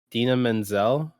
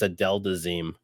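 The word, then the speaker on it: Idina Menzel: don't get this wrong Dina Menzel the singer of uh the fro Frozen like Let It Go that song in Denzel he pronounced it as a delaz oh so yeah that's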